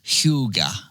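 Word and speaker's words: hygge: enjoy life's quieter Pleasures the word is spelled hyou g and pronounced Huga here's how Jesse describes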